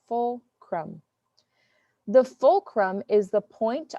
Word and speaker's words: fulcrum: stick and a fulcrum this is how you pronounce fulcrum full crumb the fulcrum is the